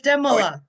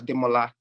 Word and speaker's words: Demola: don't expect people to get the accents it's demola yeah it's actually pronounced as demola you know but yeah say that again say